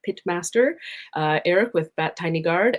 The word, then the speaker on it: Pitmaster: in some capacity, but I think that Pitmaster is a more intuitive pronunciation. That's what I've been going with. Yeah, I've been trying to, I'm like, I guess it's technically the pie, but it is a pit, and unfortunately we pronounce it pit, not pite.